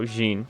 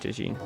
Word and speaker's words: Djinguereber: Oh, Djinguereber, not Djinguereber. My bad.